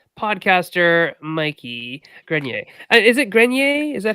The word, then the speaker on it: Grenier: which game first podcaster mikey grenier is it grenier is that how you pronounce it that is the correct way to